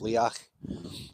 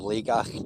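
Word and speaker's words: Liathach: It's spelt Leathach, but it's pronounced Leach, or Legach, just people say it differently.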